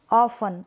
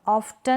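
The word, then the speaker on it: often: ऑफन, ऑफ्टन नहीं पढ़ेंगे, ऑफन, क्या पढ़ेंगे, ऑफन, ऑफ्टन नहीं।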